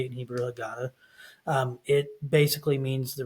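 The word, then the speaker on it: הגדה: Um so anyway, you typically use a book called a hagada. That's how you say it in Hebrew. Hagada.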